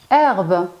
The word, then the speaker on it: herbe: Herbe. Herbe commence par un H muet.